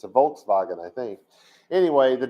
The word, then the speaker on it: Volkswagen: out of germany well in germany they have this letter called a w in their language and it makes the wha sound right no it doesn't it makes the sound do you drive a volkswagen or you do you